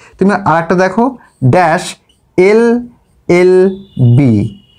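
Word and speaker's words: LLB: দেখো এর উচ্চারণটা কি? আমরা কিন্তু বলছি দেখো এল, আগে বলছি এ, তারপরে গিয়ে বলছি ল। তাহলে প্রথমেই দেখো এখানে এই উচ্চারণটা আগে আসছে, সেই জন্য কিন্তু এখানে আসবে অ্যান, অ্যান এল এল বি।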